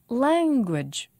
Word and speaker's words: language: Language. Language. Two syllables, and the stress is on lang.